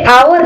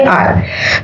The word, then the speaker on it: our: हम इसे आवर नहीं बोलेंगे दोस्तों, हम बोलेंगे आर। Correct pronunciation is आर।